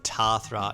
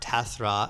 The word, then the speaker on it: Tathra: And then finally, number seven is Tathra, not Tathra as we were told by so many people.